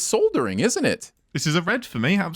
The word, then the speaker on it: soldering: the comment is just soldering is pronounced soldering silent el yo you get a